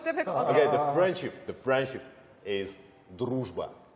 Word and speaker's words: дружба: because that Russian sound is really hard to pronounce, pick the right? most difficult. Okay, the friendship is дружба. Дружба.